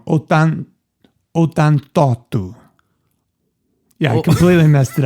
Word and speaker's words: ottantotto: Ottantotto. Yeah, I completely messed it up. When you get to the 8s, it's really strange. It deviates from the pattern. Deviates. Ottantotto. Ottantotto. Ottantotto. Ottantotto. Ottantotto. Ottantotto.